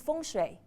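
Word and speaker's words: 风水: wind and water what is that that means fun that's exactly how it's pronounced so wind is a combination between okay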